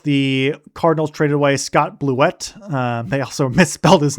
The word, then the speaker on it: Blewett: And ironic name cuz you know blew it but it's pronounced Blewett from what I remember.